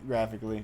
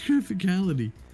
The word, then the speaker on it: Graphicality: Wait, have I been saying it wrong? Yeah, it's graphic. Oh my god, I'm an idiot. He didn't even correct me. Ah. You've been saying I've been saying graphically. it's graphicality.